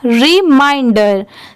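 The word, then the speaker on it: reminder: रिमाइंडर।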